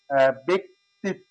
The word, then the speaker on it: ব্যক্তিত্ব: এখানে ব্যক্তিত্ব, আমরা সঠিক উচ্চারণ হচ্ছে ব্যক্তিত্ব, বে, বে বলি, বয়েরটা বেক, কটা আলাদা করে নিলাম, ব্যক্তিত্ব, ব্যক্তিত্ব হয়ে গেল।